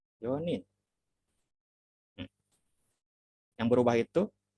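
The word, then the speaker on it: 四人: Lalu 4 Yonin.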